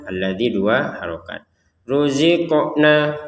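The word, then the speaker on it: رُزِقْنَا: Ruziqna qofnya dipantulkan. Jadi 28 huruf hijaiyah ada lima yang harus dipantulkan yaitu baju di toko yaitu huruf ba, jim, dal, ee th, sama qof. Baik. Ruziqna. Ruziqna. Jangan sekedar ruziqna. Ruziqna kan enggak ada pantulan. Harus dipantulkan.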